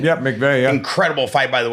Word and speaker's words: McVey: Is that how you say it, McVey? Yep, McVey, yeah.